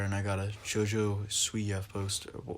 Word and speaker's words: Siwa: Well, I got a Jake Paul poster up there, and I got a Jojo Siwa poster. How do you pronounce Jojo's last name? Siwa.